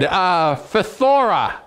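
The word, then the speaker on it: φθορά: Greeks could put a PH sound and a TH sound together. In English, we don't have that, you know. So so there's the word. Phthora.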